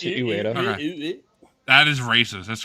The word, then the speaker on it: Ueda: Fumito Ueda, is I don't know how to pronounce it. Ueda. Okay. It's Ueda.